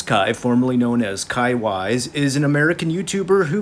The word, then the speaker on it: Weiss: we're talking about kai wise sometimes you'll hear people call him kai wes but i do believe it's pronounced wise aka prince kai sorry